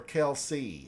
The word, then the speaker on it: Kelce: Is it Kelchi or Kelsey? How do you say his last name? Travis. Kelsey.